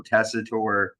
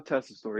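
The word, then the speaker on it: Tessitore: Wade Barrett welcoming us and he introduces Joe tesor did I say it right Joe tesor testosterone Joe oh my thing was it was it's Joe testor yeah he's a ESPN college football guy I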